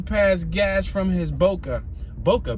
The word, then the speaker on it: boca: Boca, B-O-C-A. Boca, pronounced boca, in Espanol is mouth.